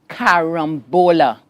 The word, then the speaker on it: carambola: C-A, Ram, R-A-M, caram, bo, B-O, carambo, L-A, carambola. Correct.